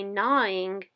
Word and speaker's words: gnawing: G-N-A-W-I-N-G. Has a silent G in front of it.